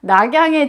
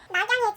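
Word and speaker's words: 洛阳: 낙양이 중국 발음으로 하면 러양이에요.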